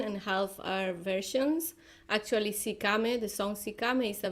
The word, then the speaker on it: Sikame: How do you pronounce it? I just want to make sure I say it correctly. It's Sikame. Sikame.